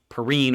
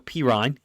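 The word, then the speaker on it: Perine: You've got B-gun, what I call B-gun, meaning the running back, Perrine or Pirine. People corrected me, so now I'll say it correctly.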